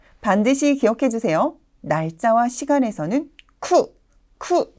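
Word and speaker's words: 九: 세월 그리고 날짜 시간 날짜와 시간에 들어갈 때는 반드시 쿠라는 발음을 정확하게 넣어 주셔야 됩니다 절대로 키우라고 발음해서는 안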